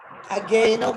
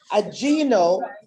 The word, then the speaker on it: Ageno: It's actually, people pronounce it, we were saying Ageno because of the spelling, but one time on my visit to Uganda, they said to me, okay, Dr. P, you have been coming here long enough. We are going to correct you with this, with the pronunciation. It's Ageno.